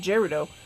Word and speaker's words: Gerudo: reaching in Gerudo City how do you pronounce it anyway I pronounce it jaredo people probably pronounce it Gyarados like I've had somebody tell